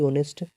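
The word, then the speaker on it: honest: तो अब यहाँ पे हम जो ये ऑनेस्ट लिखा है और जो एडजेक्टिव है ऑनेस्ट, इसको हम कैसे पढ़ रहे हैं? ओ नेस्ट पढ़ रहे हैं ऐसे ही ऑनेस्ट, ऐसे ही पढ़ रहे हैं ऑनेस्ट।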